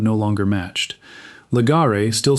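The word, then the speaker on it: Legare: Legar, still spelled the French way in Charleston today, is pronounced lree by most of its own descendants who no longer know the sound is a corruption.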